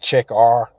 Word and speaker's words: Checkr: I guess it's called Check R. It's check with an R at the end. So it's spelled CHECKR, like Check R.